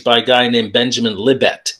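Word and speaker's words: Libet: a guy named benjamin libbette l-i-b-e-t i think that's how you pronounce his name benjamin libbett and so there's been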